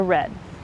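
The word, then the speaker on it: redd: returned to the creek we'll dig a red red is spelled r-e-d-d and what that is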